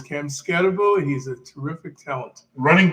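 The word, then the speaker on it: Skattebo: Am I pronouncing that correctly? It's an unusual name. I've heard and seen this player. It's Cam Scatterbo.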